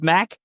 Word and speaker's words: Mac: He said that it's been difficult where his nickname is Mac. And, the beginning of his name begins with an MC, so it looks like a Mick, but it is, you pronounce it as a Mac.